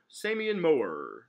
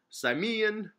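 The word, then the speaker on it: Symmion: Now apparently I say this name wrong every time, so let's give it a new take. Samian Moore. How else could you say, like, I'm not saying Moore wrong. Like, that's how you spell Moore. So it's his first name. This dude's first name is, it's Simeon, damn it. It's S-Y-M-M-I-O-N. It's Simeon.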